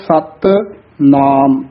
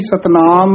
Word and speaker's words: सत नाम: फिर अगे है सत नाम, ये भी सतनाम नहीं कहना है, कई कट्ठा ही बोल जाते हैं सतनाम।